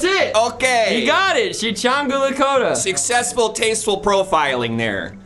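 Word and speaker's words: Sicangu: He's like Shishangu. That's it. Okay. You got it. Shichangu Lakota.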